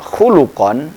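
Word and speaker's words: خُلُقًا: kata Kho lam qof kalau dibaca khalqan maka itu yang dimaksud adalah fisik tapi kalau bacanya khuluqon berarti yang dimaksud yang dimaksud adalah akhlak nah ini bahasa Arab memang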